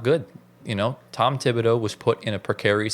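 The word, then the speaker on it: Thibodeau: Is it Tibido? It's Tibido. Yeah, Tibido. So, Tom Tibido, he has something that you can't really teach, and that is he has heart.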